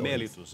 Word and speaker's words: mellitus: É mellitus, é isso? Essa seria a isso, pronúncia.